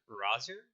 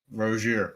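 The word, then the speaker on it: Rozier: They signed Terry Rose Rozer. Roier. Roier. Sorry. World class pronunciation expert Sean Menon on the mic.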